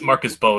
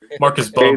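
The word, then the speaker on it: Marcus Mbow: It's Marcus Bo. Yeah, M is silent. I finally Googled it. Kitty told you. Kitty told you. Marcus B.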